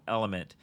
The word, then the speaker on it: LMNT: fan of this company called element so it's spelled lmnt and they make the